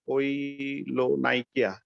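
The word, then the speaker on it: koilonychia: General examination নেইলে কোনো change বলতে কৈলোনাইকা, আমার উচ্চারণটা হয়তো একটু ঠিক হচ্ছে না, কৈলোনাইকা, KAYO, কৈলোনাইকিয়া, NYCHIA, কৈলোনাইকিয়া।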